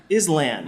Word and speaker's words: island: Keep the S. Just don't pronounce it. What? A silent S?